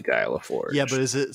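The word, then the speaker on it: Laforgue: i said it wrong it's very french so it's not guy laforge it's it's basically guy leforce yeah but is it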